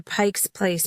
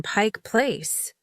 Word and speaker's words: Pike Place: I'd ask for directions to Pike's Place Market, and the person would say, "Oh, you mean Pike Place.